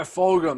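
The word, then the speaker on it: Fulgham: still um yeah uh fulgum i think is how you say his name oh yeah folgom that's right that rookie so yeah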